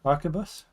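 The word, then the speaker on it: arquebus: How do you pronounce that word? Help me out, Spud. Archabus.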